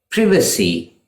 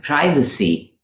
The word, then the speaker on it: privacy: Similarly, this is privacy for British speakers and privacy for Americans. Privacy is the British pronunciation and privacy is American.